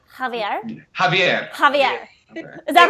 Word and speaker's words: Javier: some commentators say Javier what is the correct pronunciation because I'm horrible with names um jav jaier jaier Javier Javier Javier is that right Javier jaier it's like